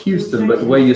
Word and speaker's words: Houston: okay what about us Houston Texas no it's Houston but the way you spell it is Houston no she said Houston Texas